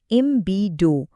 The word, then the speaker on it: ambedo: اسے کہتے ہیں ایمبیڈو۔ اس کا تلفظ ہے امبیڈو، اور یہ لفظ لاطینی زبان سے آیا ہے، جس کا مطلب ہے